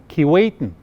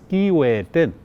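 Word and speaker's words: Keewatin: mind here in winnipeg but everybody doesn't pronounce it like that they pronounce it kiwiten but actually it's kiwi and what that is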